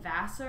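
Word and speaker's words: Wasser: It's her and her husband, Ben Vassar, I think is how you say his name. It's W-A-S-S-E-R.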